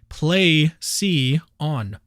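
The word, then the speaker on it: πλησίον: The way that you pronounce this Greek word that is translated neighbor is plesion.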